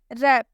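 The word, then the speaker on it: wrap: रैप, रैप में भी R से पहले W आया है इसलिए W साइलेंट होगा।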